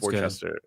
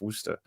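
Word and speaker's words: Worcester: sir wer yeah well it looks like it's pronounced Worchester Worchester but it's it's wer oh I think we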